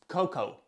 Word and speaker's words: cocoa: cocoa then what's with the a at the end well you write it but you don't read it it's Coco but why okay anyways